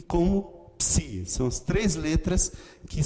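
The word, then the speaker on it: ψῖ: E aí faltam duas letras apenas, que são o Psi, como em psicologia. Ok? Você pode, a serifa também não é necessária no maiúsculo, pode simplesmente fazer assim, mas é que a questão é que fica muito parecido com o Psi minúsculo. Tá? Então eu recomendo sempre que use aqui. O som dele é sempre Psi. Psi. É uma letra que tem um som duplo.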